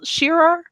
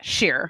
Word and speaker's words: Scherer: Is it 2 syllables, Scherer, or is it like Scheer? It's like whatever you want it to be.